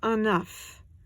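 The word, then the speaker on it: un œuf: it's singular there's no s and you say enough if it's masculine it totally changes the pronunciation you add an S and you say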